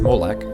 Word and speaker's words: Molech: the hebrew word malek used in the old testament is pronounced molek just like the english or at least very similar strong's definitions says this